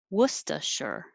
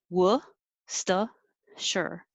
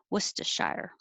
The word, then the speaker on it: Worcestershire: what it looks like it sounds like worcestershire worcester sure or you can also say shire worcestershire but sure is a little shorter a little easier so that's it um